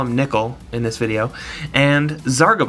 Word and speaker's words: Nichol: about the way that I pronounce Nikol okay Nicole is a girl's name and I know Nikol looks like a trap but he is not a girl so I'm calling him Nikol alright alright moving right